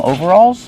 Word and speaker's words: overalls: It's like two words, over and all. Together, overalls. Over. Use a long O sound like no and go. Over. Alls. Use the aw sound like ball and call.